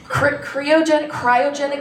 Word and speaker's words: cryogenic: Walt Disney's head is in cryogenic storage.